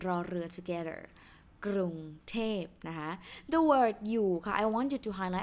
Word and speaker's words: อยู่: from my course ออ่างลีจอยักนะ you don't pronounce ออ่างนะคะ it's อยู่นะ not อะอยู่นะ just อยู่ but ออ่าง is here to change the tone rule to be middle class tone นะ so that's why